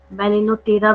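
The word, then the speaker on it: Balaenoptera: Then blue whale, बैलेनोप्टेरा है ये, BALAE, एक मिनट, LAENOPTERA, बैलेनोटेरा भी बोलते हैं, पी साइलेंट होता है यहाँ पे, ठीक है।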